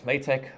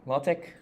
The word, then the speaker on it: LaTeX: things first um pronunciation you can either pronounce it as latex or lattec um I like to pronounce it as latex um of course it's a